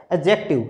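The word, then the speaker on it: adjective: हुई हमें एडजेक्टिव की, डी और जी जहाँ होते हैं वहाँ पर डी साइलेंट होता है, तो बोलना सही क्या होगा, इसका उच्चारण सही क्या है, एडजेक्टिव, ठीक है।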